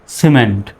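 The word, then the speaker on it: cement: হয়ে গেল কি সিমেন্ট সি এর পরে যেহেতু ই আসছে এজন্য সি এর উচ্চারণ কিসের মত সর মত হবে এখন আর কিমেন্ট বলা যাবে না সিমেন্ট দ্বিতীয় শব্দটা দেখুন সি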